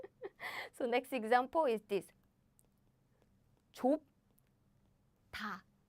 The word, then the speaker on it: 좁다: 좁다, 좁다. Now my smart students know the secret. 좁. Aha, I block the air with my lip. 좁. So naturally, the next sounds become super strong like this.